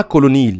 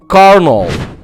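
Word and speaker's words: colonel: اللي هي رتبة عسكرية، هي مش نطقها كولونيل، هي بتتنطق كده كارنول.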